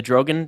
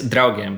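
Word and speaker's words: Draugiem: age, and then you got involved with the Drogan Group. Am I saying that right? It's Draugen, but it's a difficult name to pronounce.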